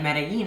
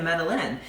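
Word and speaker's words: Medellín: know going to like medellin and i was like oh my gosh we're in the wrong spot like we're going to meddle in and it's like that's not how it's pronounced save your again what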